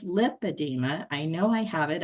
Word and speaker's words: lipedema: you're saying it wrong I kept saying I believe I have lip adeema and I want to get a pump and um and she says well you're saying it wrong and she just kept pressing me that it was lymphadema and I said no it's lipedema I know I have